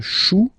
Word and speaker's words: chou: Then, un chou, okay, remember, when you combine this C and H, you get the sound sh.